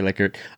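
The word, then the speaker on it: Likert: So did you know by the way the guy pronounced his name licard? Oh really? Yeah. Did he cuz everyone calls it a liker.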